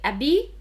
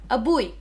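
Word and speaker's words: أبي: to say my father you can say abi or a buoy for me i say a boy now to call your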